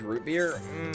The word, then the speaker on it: root beer: But if you can get, like, a good brewed root beer, baby. Root beer. You don't really pronounce the T in root. It's not root beer. It's root beer. You just kind of say it fast.